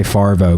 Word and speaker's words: Favreau: Favreau. I always say Favreau, but it's Favreau.